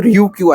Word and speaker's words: Ryukyu: तो ryukyu island है। ये देख लेना स्पेलिंग, ठीक है, ryukyu, RYUKU, sorry KYU, ryukyu।